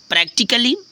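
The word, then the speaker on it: practically: ए silent होता है जैसे प्रैक्टिकली देखो पी आर ए सी टी आई सी A double L वाई प्रैक्टिकली तो इसमें कली ये नहीं प्रैक्टिकली ऐसे कुछ पढ़ते हैं ना प्रैक्टिकली तो प्रैक्टिकली नहीं है फ्रेंड्स प्रैक्टिकली ठीक है यहां पर ए ना ए का साउंड नहीं आ रहा है ए साइलेंट हो जा रहा है जैसे वर्चुअली देखो वर्चुअली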